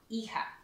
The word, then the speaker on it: hija: The hija is H-I-J-A, but you do not pronounce the H.